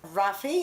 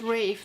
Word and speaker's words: Rafe: Rafi or Rafe. I never knew how to pronounce it. I think it's Rafe. There's actually an audiobook out for this book, and I listened into the audiobook because it's available on Script, and they pronounce it Rafe.